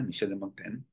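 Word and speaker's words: Montaigne: monta Michel de montain monta pero Mon se pronuncia Michel de montain que vive en la segunda mitad del siglo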